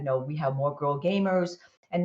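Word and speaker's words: Gamhers: gamers which i'm you might hear me say gamers which is how it's actually pronounced but we could emphasize the h uh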